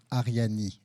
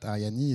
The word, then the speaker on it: Arianee: I'm the CEO and co-founder of a project called Arianee, A-R-I-A-N-E-E. So it's pronounced Arianee, not Ariane or whatever.